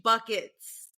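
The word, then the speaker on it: Bueckers: Paige buckets. Just go with it. It's Paige bucket.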